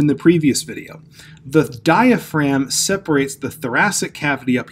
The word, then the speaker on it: diaphragm: get the spelling right it's not spelled as it's pronounced you have di pH are a and don't forget this G which I have underlined em so it's diaphragm now if you're looking